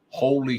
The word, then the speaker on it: holy: talk to you later Holy Spirit just came up sound like Holly Spirit but it's spelled holy so I'll see you